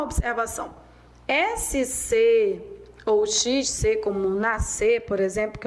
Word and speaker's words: nascer: O SC e o XC, eles são dígrafos. Então, na verdade, o que você tem são dígrafos, duas grafias, né, duas letras, mas com um só som.